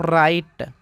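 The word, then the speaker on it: right: यहाँ भी जी एच से पहले यू आ गया है तो यहाँ पे जी एच साइलेंट हो जाएगा। इसको पढ़ते हैं दोस्तों राइट, राइट।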